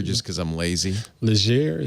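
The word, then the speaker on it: Legere: Leger. How do you say it, Stacey? You say it right. I thought it was Leger, but Leger. It's very French if you say it that way.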